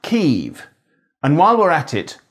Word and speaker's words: Kyiv: I think, Sebastian, that her point is that people should say Kyiv instead of Kiev, and she's very well intentioned in that point, but sadly wrong.